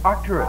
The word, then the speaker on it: Arcturus: you all see it that star is called Arcturus now say that with me Arcturus arus Arcturus Arcturus right that's right now Arcturus